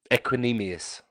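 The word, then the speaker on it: Equanimeous: Equinemius.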